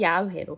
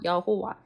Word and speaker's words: 야훼: 히브리어인데 히브리어에는 원래는 모음이 없다고 합니다. 그래서 하나님을 가리키는 단어가 요 자음을 이용한 네 단어인데 여기에다가 이제 모음을 붙여서 읽다 보니까 어떻게 이제 모음을 붙이느냐에 따라서 야훼로 발음될 수도 있고 여호와 즉 지호바라고 발음이 될 수 있다라고 한다.